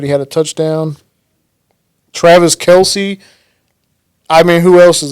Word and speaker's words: Kelce: They call themselves Kelce. But it's really supposed to be Kels, though, right? They said they don't care how you pronounce their name, man.